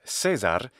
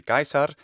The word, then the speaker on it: Caesar: explained in this video there is more than one way to pronounce this name but Cesar is not consistent with the pronunciation system that he's using which is of course the ecclesiastical pronunciation because if you couldn't tell this voice actor is Italian I rehabilitate Latin I train people if you were using classical pronunciation it should be gaisar to be consistent with